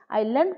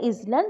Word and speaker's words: island: सेमती 42 नंबर कोन देछि which is known as an island continent okay आइलैंड पिले एठी एस टा कोन अछि साइलेंट अछि आइलैंड पढिबो सेटा इजलैंड नुहे तो आइलैंड रो एस